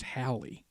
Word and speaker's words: Halley: all about eddie eddie haley or hallie i also heard it pronounced halle that's how i guess they pronounce it then how it's properly pronounced as halle but obviously we all